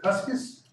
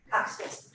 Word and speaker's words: Custis: Sheila, is it Cuskis? Custis. Cuskis, thank you. I tell the children in school 2 syllables, adults never get it.